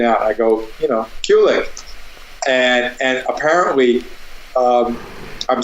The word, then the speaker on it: Kulick: Kulick or Kulick, as in I play cool licks, you know. Oh, okay, Kulick.